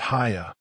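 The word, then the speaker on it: Haigha: His name is Haya." He pronounced it so as to rhyme with mayor.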